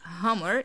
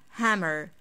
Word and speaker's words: Hummer: this one is easy however most people say ha hammer it's not hummer it's ha hammer hammer hammer hammer cores are